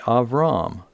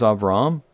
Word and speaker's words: Avram: doesn't go by Abraham, he goes by Avram in the Hebrew, or Abram, or Abram, depending on how you pronounce it. But it is Avram, and that is the name.